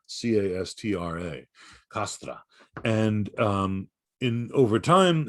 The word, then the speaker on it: castra: in latin is a castra c-a-s-t-r-a castra and in over time in the classical latin the c is pronounced like a k but over time in